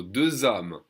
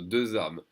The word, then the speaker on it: hommes: So 2 hommes, the H is silent followed by a vowel sound. So 2 hommes, 3 hommes, 3 amis, 3 friends.